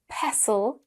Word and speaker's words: pestle: With a short e sound, we have wrestle, pestle, and nestle.